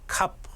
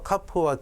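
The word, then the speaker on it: כ: 그래서 카프는 원래 키읔으로 발음을 하는데 이 점이 없으면 조금 부드럽게 해서 카 이렇게 키읔하고 히읗이 합쳐진 발음을 실제로 하기도 합니다.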